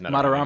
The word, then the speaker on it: Madarame: I don't know if I pronounced the is it Madarame? Yeah, it's Madarame.